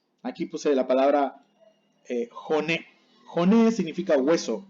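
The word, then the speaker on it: 骨: Hone significa hueso o huesos. En japonés se dice hone, no se dice one. Mucho cuidado.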